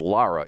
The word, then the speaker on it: Lara: he was interviewing Lara is that how you pronounce her name Lara it's not Lura it's Lara is Lara Lara Trump I